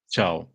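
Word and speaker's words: Thiaw: I mean, I see Chow, and I'm thinking like a Chinese guy, CHOW. Yeah, I only know it because it was, because he said it a couple of times, like himself in interviews. Otherwise, I wouldn't have known the pronunciation as well. But yeah, it's Malik Chow. A different one. Exactly like the Chinese guy. Yeah, like chow mein noodles.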